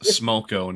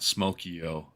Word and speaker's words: Smoko: Ryan, it's pronounced Smoko, not Smokio.